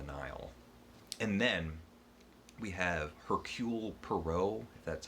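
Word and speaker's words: Hercule Poirot: trip down the nile and then we have hercule perot that's how you say it who is just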